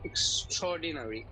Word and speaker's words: extraordinary: যেমন দেখেন, ই ক স ইক্স, ঠ র অ ট্রৌ, ইক্স ট্রৌ।